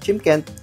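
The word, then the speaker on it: Shymkent: So Chimkent ang pronounce niyan. Spells like Chimkent.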